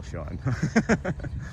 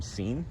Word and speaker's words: Sean: I'm Sean, but it's spelled S-E-A-N, so I'm seen to many people.